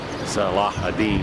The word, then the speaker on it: Salah ad-Din: called, and it was originally built by Saladin, Salah ad-Din as he pronounces it.